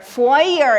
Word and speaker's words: foyer: It's a French word we use in English foyer. Foyer. In in French it's pronounced foyer but yes in English we hear that all the time.